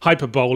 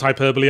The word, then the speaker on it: hyperbole: comic effect and think hyperbole is what sony's pr department eats cereal out of yes i know it's pronounced hyperbole i couldn't think of